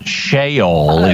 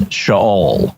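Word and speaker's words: Sheol: you if you didn't it is not shol it's shaol good well thank you I learned uh if I lie down in shaol you are there too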